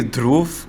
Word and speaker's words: Dhruv: It's actually Dhruv, but I guess it's Dhruv.